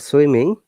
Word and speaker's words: swimming: You see in the word swimming, there is a dot. Can you see the dot? Yes, teacher. Mhm. Women, this Yep. dot means we have to stress on that word, and it is two syllables. It word. Remember syllable? Syllable means when we break the word to pronounce it correctly. So swimming, swim, then dot in, like swimming.